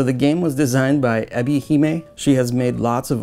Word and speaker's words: Ebi-Hime: Ebi-Hime, yeah.